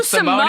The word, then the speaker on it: Simone: And I was just like, well, also maybe because it rhymes with trombone, but I was like, but also Simone is so jazzy.